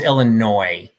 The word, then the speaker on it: Illinois: um but it was it was always illinois just gonna throw that out there the s is silent do with that as